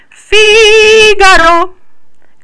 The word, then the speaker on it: Figaro: They're usually pronounced G. For example, Figaro, Ga, G-A.